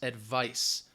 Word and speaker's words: advice: So be careful, especially when you are writing these, as well as saying this, because advice with a C, all right, that C is going to sound like an S, advice.